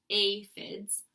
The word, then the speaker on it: aphids: pretty sad day when the aphids pronounced a FIDs arrived they are some